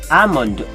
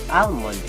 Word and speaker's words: almond: Almond. At first glance, we often mispronounce it as almond, but it's actually silent L, so it should be read as almond.